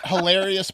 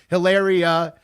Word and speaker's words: Hilaria: Hilarious Baldwin? Yeah, Hilaria Baldwin. Hilaria, it just instead of the O-U-S, it's an I-A. Yeah, that's her name. Hilaria.